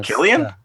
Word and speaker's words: Cillian: And I think you pronounce his name with a hard K sound rather than a Killian?